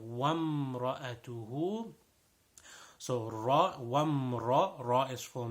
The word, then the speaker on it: وامرأته: There is an alif over there, but the alif is silent. The alif, we don't pronounce it over there. So it's not wa imra'atuhu, no, wamra'atuhu.